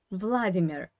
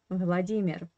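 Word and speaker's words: Владимир: And I would like to start from the name that in English you pronounce as Vladimir.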